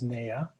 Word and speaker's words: NAYA: Well, the acronym NAYA, we pronounce it as NAYA, and we've been around for about 46 years.